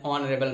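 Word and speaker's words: honourable: ऑनरेबल, Gandhi ji वॉज एन ऑनरेबल मैन of India. Okay, सो यहाँ भी वही कंडीशन है, एच से स्टार्ट हो रहा है, बट इट is pronounced bye honest, ऑनरेबल, ऑनर।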